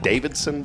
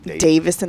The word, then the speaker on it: Davison: Is it Davidson Bryce or Davison? Davison. There's no. It's not. Harley Davidson. Yeah. There's no second D.